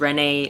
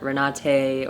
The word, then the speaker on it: Renate: People think it's Renee or Renate or whatever, but it's Renate. Now you know how to pronounce it.